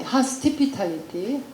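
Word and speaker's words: hostipitality: 이 발음을 우리 학생들도 굉장히 어려워요. 어떤 때는 하스피탈리티, 어떤 때는 뭐 이 티피탈리티, 타피탈리티 이걸 바꿔서 하는데, 이것은 하스틸리티, 적대하고 하스피탈리티, 환대를 한꺼번에 묶은 말이에요. 하스피탈리티, 하스티피탈리티, 하스티피탈리티.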